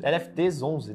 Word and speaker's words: LFTS11: da Carteira do lfts11 lft 11 né Essa é a pronúncia correta obrigado pela oportunidade a